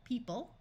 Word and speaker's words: people: a few more by in this word the O is going to completely disappear people this e will have